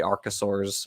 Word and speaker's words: archosaurs: are the snakes and lizards, and then the archosaurs, which, Colton, yes, you did pronounce it correctly.